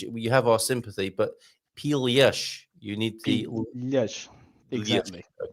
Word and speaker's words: pilhas: So he goes, pilas, because he can't pronounce the l properly. Now, for context, pilhas, like you're supposed to, like he meant to say, means batteries.